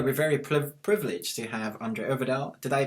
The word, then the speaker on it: André Øvredal: And today we're very privileged to have André Øvredal. Did I pronounce that right?